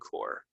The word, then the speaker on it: Corps: grandfather was a colonel in the US Marine Corps Colonel and core just kidding there's one more uh most of